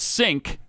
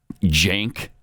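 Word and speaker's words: Cenk: so bad now that sink you know the guy from Young Turks mhm actually pronounces it Jank I guess Cen K Jank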